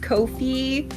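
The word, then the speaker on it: Ko-fi: I only know that it's pronounced Kofi because they say in their FAQs that it's supposed to rhyme with no fee.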